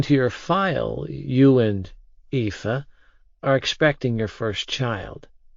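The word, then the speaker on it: Aoife: It's pronounced EA. Shrugging, I added. It's basically Eva in Irish.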